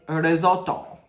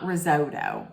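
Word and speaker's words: risotto: with listen they had they say it R Roto but as an Italian my mother if I didn't say it like this my mother would say what it's it's Roto it's not risoto it's Roto right listen I'm not all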